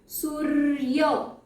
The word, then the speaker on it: सूर्य: तो सूर्य कैसे बोल रही हूं मैं, आप उच्चारण पे ध्यान दीजिए कैसे प्रोनाउंस हो रहा है। सूर्य है ना, र पहले आ रहा है।